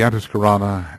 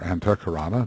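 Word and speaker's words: antahkarana: science of service meditation the antisana and or antakarana depending on how one wants to pronounce it and service which is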